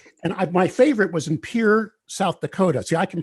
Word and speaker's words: Pierre: And my favorite was in Pierre, South Dakota. See, I can pronounce that town correctly because I was there.